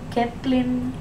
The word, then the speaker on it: Kaplan: Kaplan? That's how I pronounce it. I think that's the only way to pronounce it.